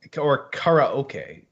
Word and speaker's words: karaoke: it's it it's it's the new karaoke korekara okay if you pronounce it correctly but yeah you are